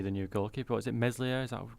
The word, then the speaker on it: Meslier: Is it Meslier? Is that how we pronounce it? Ilan Meslier. Yeah, Meslier.